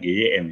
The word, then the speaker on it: gym: Tulisannya GYM ya, bacanya gym.